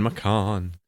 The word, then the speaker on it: Macon: Macon or Macon um like say it like pecan Macan yes bro it is